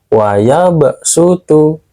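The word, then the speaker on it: وَيَبْسُطُ: gini di mushaf Madinah kalau ada sin kecil di atas SH maka cara bacanya harus pakai Sin contohnya ada di al-qur'an surah Albaqarah ayat 245 dan Quran surah al-a'raf ayat 69 contohnya wayabsutu dibaca wayabsutu dan juga lafal bastoh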